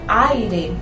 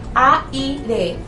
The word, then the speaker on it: aire: También está la palabra aire. Usted no dice aire, ustedes dicen aire. Entonces aire. Hay dos sílabas allí y por lo tanto hay un dictongo.